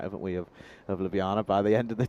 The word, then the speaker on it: Ljubljana: And now Ljubljana have just allowed this Afyon Karahisar run rate to creep up to 7. Nothing too alarming, but again, Ljubljana's plan here will be to get 4 points out of this match.